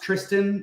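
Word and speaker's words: Thriston: It is weird because it's actually pronounced Tristan, which is really annoying because I thought Thurston as well.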